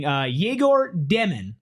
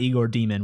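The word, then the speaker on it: Yegor Demin: We have Brent in the chat saying Yegor Demon, which is how you pronounce his name. It's not Igor Demon, which I wish it was.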